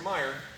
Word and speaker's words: Mair: So, when it comes to Paulus Hector Mair, or Mair, depending upon your pronunciation, he again gives us thrusting cut.